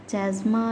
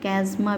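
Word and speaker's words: chiasma: X shape का clearly दिखने लगता है, जिसे चैज़्मा या चैज़माटा या कैज़्मा भी बोलते हैं, ठीक है, प्रोनाउंसिएशन में कैज़्मा भी बोलते हैं।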